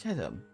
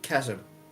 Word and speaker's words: chasm: The H is silent, and because of it, it shouldn't be there. It should be like CASM.